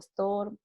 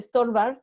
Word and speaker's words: Stobart: Yo no sé cómo se pronuncia, digo Stobart. Porque nada que decir Storbar, porque es como Storbar, es como estorbar, nada que ver, es Stobar.